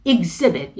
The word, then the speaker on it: exhibit: 그래서 exhibit, 그 z 쪽에 강세를 넣어주시고 x로 시작하는 게 아니고 ig로 시작하죠. 발음이 exhibit.